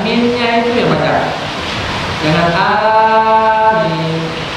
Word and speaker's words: amin: Dan ketika dibacakan Al-Fatihah ini, maka disunahkan untuk membaca amin, membaca amin. Ada dua rakaat, minnya itu yang baca dengan amin. Bacanya amin. Minnya yang lebih panjang daripada A-nya. Amin.